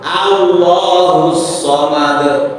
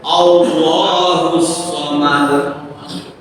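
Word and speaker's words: اللَّهُ الصَّمَدُ: Jangan Allah somad. Ya, ini sudah salah kaprah. Mungkin hampir semua orang membacanya Allah. Ada enggak huruf? Enggak ada. Yang adalah a i u. Enggak ada yang o. Allah.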